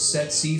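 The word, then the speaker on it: tsetse: a bite from it sets flight pronounced set c flight is to put it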